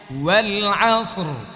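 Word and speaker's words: وَالْعَصْرِ: ওয়াল আসর, ওয়াল না ওয়াল আসর। শেষে র আছে না নাই, উচ্চারণ করতে হবে ওয়াল আসর ওয়াল আসর ওয়াল আসর ওয়াল আসর ওয়াল আসর।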